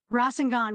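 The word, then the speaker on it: Rasengan: pronounce my own move rosenon with a sharp raw sound no mispronunciation here no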